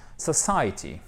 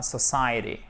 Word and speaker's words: society: Alors, en anglais britannique, ce sera society, society, society. En American English, ce sera society, society. En fait, le T ici va être prononcé presque comme un de puisqu'il est coincé entre deux voyelles, le pauvre. Et vous savez que le T, lorsqu'il est coincé entre deux voyelles, il se transforme presque en de.